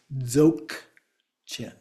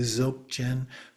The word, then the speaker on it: Dzogchen: It starts with a DZ, which combine d, z, zo, and then the G is more like a g, a short g, or a K. So sometimes it's actually pronounced as Dzogchen.